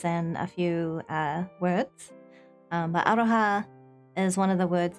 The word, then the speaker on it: aroha: So I know love in Māori is aroha. Spelled like this.